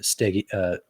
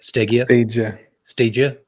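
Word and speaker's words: Stagea: Skyline, GTR, even the Stegia. Always forget how to say it. Stagia. All right. Some people say Stagia, some people say Gia, but yeah. I call it a Stagia.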